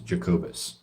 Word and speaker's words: Jacobus: Um, Latin is Jacobus. Actually, that's how you pronounce that.